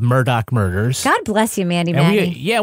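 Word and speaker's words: Murdaugh: documentary series Murdoch murders a southern Scandal Nice pronunciation Kevin well I did listen to the podcast called Murdoch murder God bless you Mandy yeah we all got like admonished for calling the guy Alex murdah when it's Alec murd but to be fair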